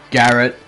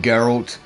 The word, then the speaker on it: Geralt: do if you really have that much of a problem with me saying Garrett instead of saying geralt I don't [ __